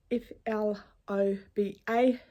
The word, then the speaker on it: Floba: It is it called Flobo? I'm not quite sure how to pronounce it. It is in New Zealand. The fabric, I bought it in New Zealand. It's FLOBA, Floba, and I absolutely love the fabric.